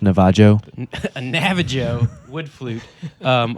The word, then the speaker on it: Navajo: a Navajo wood flute it's actually pronounced Navajo a Navajo wood flute